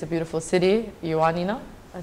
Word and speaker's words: Ioannina: Ioannina, I said it right?